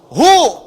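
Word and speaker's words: هو: Singkatan dari huwa. Hu disingkat huwa. Kalau Anda wakaf membaca kalimat bahkan dalam bahasa Arab, apalagi Al-Quran, berhenti pada kalimat huwa, maka huwa-nya nggak bunyi. Bacanya hu.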